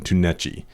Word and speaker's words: Tunechi: But at least we found the proper pronunciation, Tunechi.